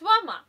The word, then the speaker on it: vermeil: The semi-precious category is largely made up of silver, verma, spelt vermeil, pronounced verma, which is 24 karat gold-plated 925 or sterling silver, and even plated metals along with semi-precious beads and stones.